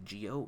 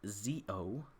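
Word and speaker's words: Zi-O: it wrong you're actually not supposed to say geo it's pronounced zo please say it right sorry how would I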